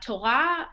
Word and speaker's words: Torah: all know that word uh torah when you hear it you think it it's just torah like two sounds uh and in fact the torah ends with a hey sound and the hay is silent um most words are